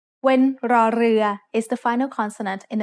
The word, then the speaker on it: ร: In other words, this is an R sound with a trill. Not everyone can make this sound easily, but you can get better with practice. When รอเรือ is the final consonant